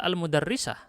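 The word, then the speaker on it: المدرِّسة: Kalau kita baca al-mudarrisah. Al-mudarrisah itu adalah hakikat roknya di sini ada dua. Maka tulisan yang aslinya adalah al-mudarrisah. Ada huruf yang dihapus. Aslinya begitu ya. Al-mudarrisah. Tasdid itu adalah gambaran dari dua huruf kembar. Yang satunya dihapus diganti dengan tasdid. Al-mudarrisah. Nah, tasdid ini penting. Kalau tidak dikasih tasdid, orang bisa salah baca.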